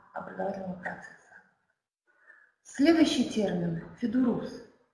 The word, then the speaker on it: ФЕДУРУС: процесса сказа следующий термин федус мы всё-таки ставим ударение на последнем слоге Ну хотя возможны варианты Этот проект появился позднее